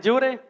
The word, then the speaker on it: Yure: Bueno, mi nombre es Yure. Y se pronuncia, ahora les desperté otra vez. Se pronuncia como te juré, pero no te juro nada.